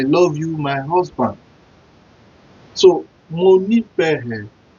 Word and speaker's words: Mo nífẹ̀ẹ́: Mo nífẹ̀ẹ́.